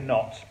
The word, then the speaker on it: knot: In a knot. K-N-O-T. Knot. That's how it's spelled. That's how you say it. K-N-O-T. Silent K. So it's just knot.